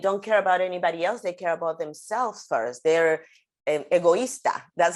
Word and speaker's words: egoísta: They're egoísta. That's how you say it, okay, egoísta.